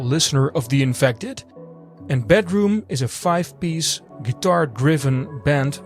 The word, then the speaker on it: bdrmm: So I'm talking about the band BDRMM, and I believe you spell it as Bedroom. I also read some interviews with the guys and they say uh the band name is spelled as Bedroom.